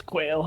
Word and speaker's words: Quail: kale God Quail yeah I'm not sure how to pronounce it so it's Quail it's a a bird okay thank you for